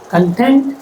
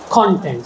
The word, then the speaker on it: content: Second is content and content both are different content stress on the second syllable and content stress on the first syllable different meanings.